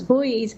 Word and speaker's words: buoys: somewhere Governor floating barriers I think the British pronunciation is boys or and here it's pronounced as boys um I don't know